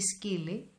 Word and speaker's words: σκύλοι: Οι σκύλοι, πληθυντικός αριθμός. Οι σκύλοι δεν παίζουν. As you can see, when I have a plural form, in the masculine words, I always apply omicron iota as the sound e.